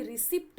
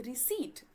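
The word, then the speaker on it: receipt: देखिए वैसे तो पी है बट पी हमेशा साइलेंट होता है। इसको कभी भी रिसीप्ट मत पढ़िएगा। पी साइलेंट होता है। इसको पढ़ते हैं रिसीप्ट।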